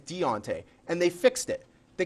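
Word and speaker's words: Diontae: I heard it pronounced Dante. It's not Dante, it's Deontay.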